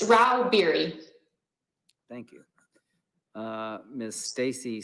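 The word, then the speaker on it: Rauh-Bieri: how do you say your name ma'am it's rao beary thank you uh miss stacy stags literal lobbyist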